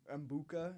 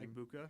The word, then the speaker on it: Egbuka: My main question, I was just, would Green Bay have taken Mbuka, is that how you pronounce his name? Egbuka.